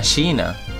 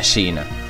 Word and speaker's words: Shina: Nadia de golden s se llama shina con dos s seena sabéis así se escribe se pronuncia shina lo cual Mora mucho